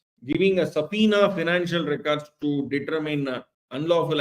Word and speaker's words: subpoena: we call it a subpoena okay so the B is silent then so then the